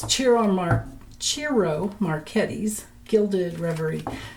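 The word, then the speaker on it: Ciro: It's Chiro Mar Chiro Marquettes. Gilded Rey Chiro. If you put it in a search engine, you'd spell it C I R O, but he's Italian, so it's pronounced Cherro.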